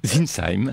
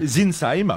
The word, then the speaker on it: Sintzheim: Zinsheim. Zinsheim. Voilà, c'est pour la prononciation Zinsim qui a été le premier grand rabin de France et président du consistoire central des Israélites de l'Empire.